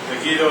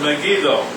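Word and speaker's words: Megiddo: jezrael valley at megido I don't know how to pronounce that megadoo megido Meo megido is how I heard it but this important city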